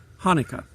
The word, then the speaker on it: Hanukkah: is to talk about Hanukkah or if you pronounce it properly it's actually a CH and it's one of those clear your throat words it's a 8-day festival